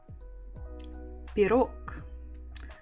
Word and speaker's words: Пирог: So stress on the second syllable. Пирог. Пирог. Пирог. And again, if you have really good listening skills, you can hear that I don't say g, I say k. It's just to make it easier.